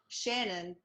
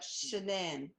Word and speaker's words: Shanann: I And you wanted it pronounced not Shannon, but Shannan, right?